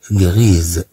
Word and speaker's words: gris: فنقول غريز. نقول مثلا لا ماتيير غريز. يعني المادة الرمادية الموجودة بالمخ. إذن غريز. أما هنا فنقول غري. هاد اس لا تنطق.